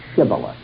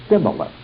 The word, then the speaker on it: Shibboleth: In other words, the same letter that was pronounced like the letter S in the northern kingdom of Israel was pronounced like SH in the kingdom of Judah.